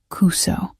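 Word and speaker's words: くそ: The U in Kuso should be shorter. Almost silent.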